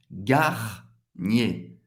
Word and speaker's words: Garnier: Garnier. Duas sílabas. Garnier. Mais uma vez. ER no final de uma palavra vai ter o som do E.